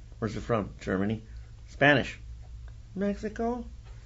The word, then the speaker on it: Mexico: Yeah, from the Mexicas, the Nahuatl language is actually correctly pronounced as Mexico because the X was pronounced sh, and the Spaniards don't have, in Spanish, there's no sound for sh.